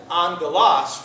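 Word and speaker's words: ἄγγελος: getting angel or the why are they telling me to pronounce it Ang Galas when it's a L why didn't they spell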